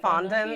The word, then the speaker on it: fondant: Fondant.